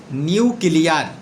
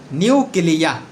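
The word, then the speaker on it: nuclear: এছাড়া আমরা জেনে থাকব আরও গুরুত্বপূর্ণ একটি ওয়ার্ডের উচ্চারণ, যেমন আমরা প্রায় বলে থাকি নিউক্লিয়ার। হ্যাঁ, এর সঠিক উচ্চারণ হচ্ছে নিউক্লিয়া মানে হচ্ছে পারমাণবিক, মানে এটার নাম হচ্ছে নিউক্লিয়া।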